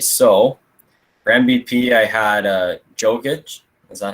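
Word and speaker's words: Jokić: All right, so for MVP, I had Jokic. Is that how you say it, Jokic?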